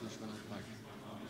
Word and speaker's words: Vishwanath Bhat: Actually, what's the pronunciation of your name? Yeah, it's Vishwanath Bhat.